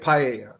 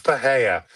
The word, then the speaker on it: Pereira: It's It's Alex Pereira. Number one, it's just how it's how one says it. Number two, in Brazilian Portuguese, the R's are pronounced as H's.